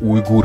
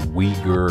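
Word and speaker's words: Uyghur: to go to an ur place many people associate URS with China and also completely mispronounce their name and say weager and weird stuff like that anyway they're also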